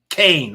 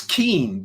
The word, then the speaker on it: Kean: Leslie Kain. All right, I'll say it right. The lady spells her name K E an. That's Keen to me. But no, she wants people to say Kain cuz she wants to be different.